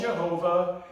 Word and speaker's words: Yahweh: So that is Yahweh. That's how you actually say the name of God. Now, you can call him Jehovah. You can call him Yahweh. You can call him Yahweh. There's a number of pronunciations depending on dialects and they're not wrong, you know.